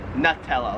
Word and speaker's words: Nutella: Here in Australia, they pronounce it Nutella. Like a nut. Yeah. Nutella. Nut. Nutella.